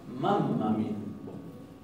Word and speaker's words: mamma: La doble M se va a pronunciar también como una doble M, muy enfática. Entonces ellos van a decir, mi mamá, van a decir, mammami, mammami.